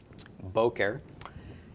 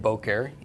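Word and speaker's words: בֹּקֶר: so Bo care or actually the emphasis is on the first syllable so it is Bo care Bo care and Bo care is morning okay so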